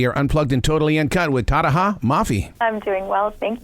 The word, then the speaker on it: Tahereh: them how to say my name, which is Tahereh, by the way.